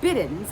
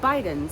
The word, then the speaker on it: Bidens: And I finally learned last year that it's actually pronounced Biddens. I had been saying Bidens for a while, but it's Biddens.